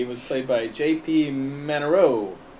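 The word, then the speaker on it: Manoux: Manero. It's one of those French word names. Yeah. With the X. Right, the X is silent.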